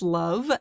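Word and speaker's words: LOVB: Yeah, we aim to be a little bit different at love or league one volleyball pronounced love and we are really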